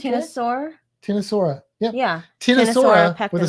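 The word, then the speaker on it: Ctenosaura: Tinosaura with a silent pectinata.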